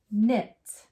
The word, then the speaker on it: knit: So remember, do we make a sound for the K? Nope, skip right over it. So we have it. Knit.